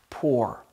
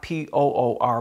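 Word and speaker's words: πῦρ: the greek word pronounced poor not p-o-o-r but p-u-r but it's pronounced poor it means fire it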